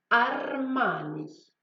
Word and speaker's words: Armani: Oui, Armani. C'est une marque de vêtements, mais aussi de chaussures, d'accessoires, d'ameublement et de nourriture. Donc rappelez-vous de prononcer correctement le R.